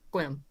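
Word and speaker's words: Sequim: kills me too because it's spelled s-e-q-u-i-m but it's swim okay sure yeah why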